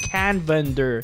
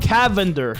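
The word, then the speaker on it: Canvander: It's actually pronounced Canvender, not Cavender, okay?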